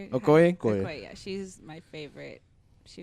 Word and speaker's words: Okoye: Okoye, that's how you say it. Okoye? Okoye, yeah.